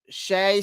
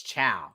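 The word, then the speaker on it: Chau: I thought it was Chow, but someone told me it wasn't Chow. I thought it was Chow, but I was obviously wrong.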